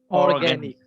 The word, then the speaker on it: organic: এটা Organic. Organic. organic উচ্চারণ হবে organic.